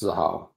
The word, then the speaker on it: Xahau: Xahau is how it's pronounced. Xahau.